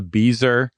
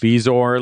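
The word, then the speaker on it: bezoar: Are either of you upset that Judge Hodgman continued to call it a beazer after I told him it's pronounced beazor like 17 times?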